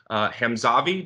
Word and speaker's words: Hamzavi: price from hem xavi dermatology am i pronouncing that correctly yeah all right perfect so dr.